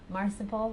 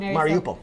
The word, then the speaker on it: Mariupol: I cannot say this word. Marsipol? Is that how you say it? Oh, Mariupol. Mariupol.